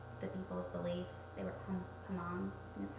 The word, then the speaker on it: Hmong: They were Hmong, and that's how you say it.